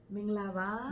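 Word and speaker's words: မင်္ဂလာပါ: Minglaba.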